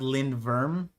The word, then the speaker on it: lindworm: It's pronounced Lind Verm.